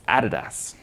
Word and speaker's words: Adidas: Can anyone tell me how to pronounce this? Adidas. Sorry? Adidas. Adidas. It's Adidas.